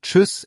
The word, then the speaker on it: Tschüss: Et pour « Tschüss », le Ü est aussi important.